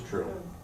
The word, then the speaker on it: Trill: Trill? Trill. Okay, It's Trill.